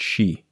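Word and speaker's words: shi: some variation in tone every single word in the poem is pronounced she it was written by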